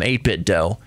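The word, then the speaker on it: 8BitDo: they're mentioning 8bit D controllers I call them 8bit do because you don't pronounce it nintend uh do they say some people say 8bit do do you call it a Nintendo no Nintendo so I say 8bit do but to each their own ASUS ASUS whatever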